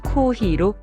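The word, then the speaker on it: コーヒー: 예를 들어 커피는 코오히로, 컴퓨터는 콤퓨터로 장음이 들어갑니다.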